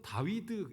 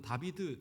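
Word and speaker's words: דוד: 그리고 이것을 이 히브리어 원어를 읽으면 다윗은 다위드 이렇게 발음합니다. 다위드. 그래서 이것이 독일어나 이렇게 와서는 다비드 이렇게 발음이 바뀐 건데, 현대 히브리어에서도 다비드로 발음한다고 하더라고요. 그런데 고대 언어에서는 이제 다위드로 발음이 됐어요. 가운데가 W.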